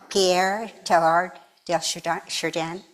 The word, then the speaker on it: Pierre Teilhard de Chardin: Okay, there's a quote by, I can never pronounce her name correctly, Pierre Teilhard de Chardin. Chardin. Can you pronounce it for me, Jen? Would you say it for me? Pierre Teilhard de Chardin.